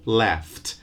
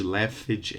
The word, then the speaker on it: laughed: A typical mispronunciation by Brazilian learners is to add an extra syllable and say things like wipeage, likeage, laughage, and so on. No extra vowel, no extra syllable for the verbs in the first column, okay? Just a t at the end.